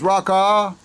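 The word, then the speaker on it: ركعة: You pronounce it from the back of your throat.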